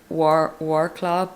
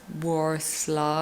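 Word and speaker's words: Wrocław: and i'm going to i pronounce it war club but it's war slaw i think that'll be the next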